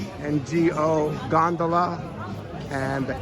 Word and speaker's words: gondola: And then G-O, as in gondola, gondola ride in Venice, G-O.